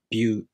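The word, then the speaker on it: びゅ: To pronounce byu, the tongue moves from the b sound to the u vowel.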